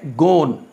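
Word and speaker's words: gone: इसको गोन भी पढ़ते हैं और गॉन भी पढ़ते हैं, यानी दोनों प्रोनाउंसिएशन ये रिवाज में है और लोग इसको गो, गोइंग, वेंट, गॉन और गोन दोनों तरह से पढ़ सकते हैं।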